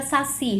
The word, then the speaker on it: saci: A palavra saci recebe acento? Saci é uma oxítona, eu tenho a sílaba tônica si, é uma oxítona, eu sei que ela tem essa tonicidade, mas ela não recebe acento.